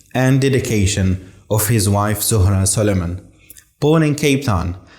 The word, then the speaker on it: Zohra: my name is Zahra, but they spelled it that way. So we say Zohra. Is it a Cape Townian thing or Pietermaritzburg thing? What The pronunciation. the Cape, they say Zohra here and we say Zora there.